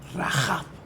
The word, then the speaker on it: Rahab: A mí me gusta pronunciar Rahab, porque suena más a la fonética hebrea que Rahab.